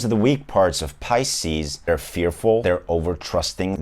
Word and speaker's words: Pisces: to be pronounced differently but it's actually spelled p-i-s-c-e-s and it's pronounced pisces and there's no other way of